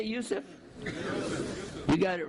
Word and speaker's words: Yusuf: is Yusuf my name is can you say Yusuf you got it right on the first time all these years my wife still pronounces it useless the Trinity is not mentioned in the Bible